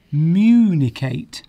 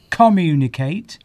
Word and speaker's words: communicate: So, for example, if I was to say the word communicate, I would be putting stress on the communicate. Oh, okay. Communicate. But so, if I went communicate, I'll be putting the stress on the first syllable.